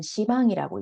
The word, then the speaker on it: 시방: 시방이라고 하는 것은 십방이라고 쓰고 불교에서는 시방이라고 읽습니다.